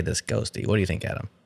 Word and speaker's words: Ghostty: so much but nowadays ghosties that how you say it ghosty or is it ghost TTY no I say ghosty I say ghosty that's